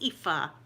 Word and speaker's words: Aoife: Do you pronounce your name Aoife, Dowling? Because I wouldn't want to mispronounce your name, but I think I've seen someone else that pronounces it Aoife. My goodness. Yes, Aoife. Because I know a lot of people pronounce it Iofi and stuff, but I'm sure